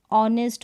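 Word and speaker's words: honest: रहा यहां पर देखिए इनमें हा जो है साइलेंट सारे स्पेलिंग में ऑनेस्ट हो रहा है हा साइलेंट ओय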